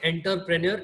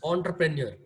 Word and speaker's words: entrepreneur: hindi also entrepreneur right we cannot say enter premier it is entrepreneur this is how it